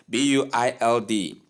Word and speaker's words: build: The right pronunciation of the word is build. Build simply say B instead of bu short E sound in the place of U sound that most people do pronounce.